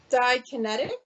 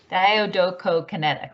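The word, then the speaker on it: diadochokinetic: Dikinetic? Yes. I think you might have missed a syllable, but yes. Didokinetic. Don't know if you heard the didokinetic rate. Diodocokinetic, right?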